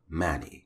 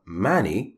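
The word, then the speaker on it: Máni: later now her brother mani you can say it mani that's fine and another variation of his name is mani with an accent sign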